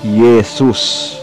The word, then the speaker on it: Iesus: Kapag nasa unahan ng isa pang vowel ang letrang I at J, binibigkas ito ng tunog na letrang Y sa Pilipino. Ang isang halimbawa ay Jesus o Iesus. Ito ay magiging Yesus.